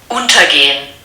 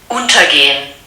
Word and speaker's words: untergehen: And the first verb that I'd like to share with you is, listen out for the stress pattern. Untergehen. Does it fall on the prefix or does it not? Untergehen. Most definitely does.